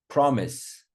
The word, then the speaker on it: promise: Order on the first syllable. Stress. Order. Promise.